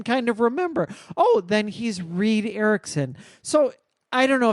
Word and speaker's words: Reed: And then I had to remind myself, no, his first name is Reed, like Reed Richards from the Fantastic Four.